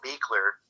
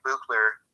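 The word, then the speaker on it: Buechler: also wanted to say that uh john carl beakler it looked like buchler but speak clear it's pronounced speaker he's the director for uh friday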